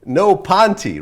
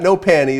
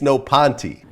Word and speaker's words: No Panty: Ponty right it's not no panty it's no Ponty Pony ah not a ah okay now why no Ponty not no panty CU that's how you pronounce it in Spanish like you're never going